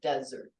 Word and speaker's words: desert: desert and then dessert the accent is on the second syllable dessert the first one desert good sorry that one